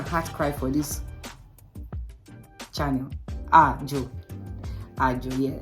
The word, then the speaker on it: Àajò: Àajò, yeah. Like I said, Àajò, don't forget. So once you just want to pronounce Àajò and you don't know how to pronounce it, just say do.